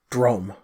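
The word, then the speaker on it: Droaam: to the east then to the nation of drum okay it spelled dro a a.m. but it's pronounced drum okay okay like dr ome alright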